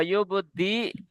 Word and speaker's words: يبدئ: এটা দেখেন, এটা এটা হবে হামজা পেশ। কি হয় হামজা পেশ? উ উ। أو তাহলে ইয়া পেশ ইউ। يو জি। তাহলে ইন্নাহু হুয়া ইউবদি, হামজা পেশ কি উ, দি উ, أو ওয়া ইউঈদ।